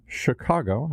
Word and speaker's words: Chicago: It's quite a dramatic tale here with our guest from Chicago. I want to make sure I don't say it like too many Midwesterners mispronounce it.